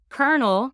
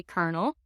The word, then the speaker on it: colonel: you say colonello but in French and then by way of French in English it turned into an R sound because they're so close together so we say kernel and then also you